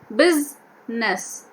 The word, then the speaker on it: business: consists has sir sound whereas business when we say we are saying the sound biz ness okay so it is